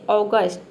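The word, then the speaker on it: August: अगस्त, यहाँ पे देखिए इसको हम अगस्त नहीं प्रोनाउंस करते हैं, जो अगस्त का महीना होता है इसको हम क्या बोलते हैं, अगस्त प्रोनाउंस कर देते हैं। इसको हम इंग्लिश में बोलते हैं ऑगस्ट, ऑगस्ट होता है, और इसका हिंदी में मतलब होता है अगस्त।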